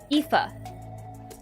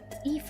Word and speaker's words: Aoife: I don't remember how it's pronounced. I wrote it down. Aoife. Aoife.